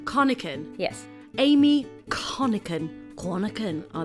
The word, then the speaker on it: Conachan: Conachan. Conachan.